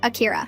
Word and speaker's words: Akira: Say, Akira. Akira. No, you need to soften the R like this. Akira.